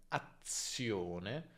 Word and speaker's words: azione: Qui scriviamo due Z e il suono è lungo, ma per esempio in azione, scriviamo una sola Z, ma comunque è come se fossero due Z, cioè il suono è lungo.